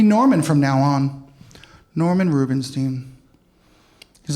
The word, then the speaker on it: Rubenstein: name all the time it's Rubinstein they'll say Rubenstein or Rubenstein Goldberg I don't know don't